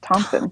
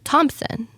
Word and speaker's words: Thomson: I don't think there's a P, so I'm sorry if I'm saying it wrong. There's no P. It's Thompson. Thompson. Am I saying it right? Like Tom but not Tom.